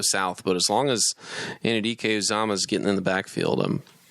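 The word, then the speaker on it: Anudike-Uzomah: I like Felix Anaduke Uzama.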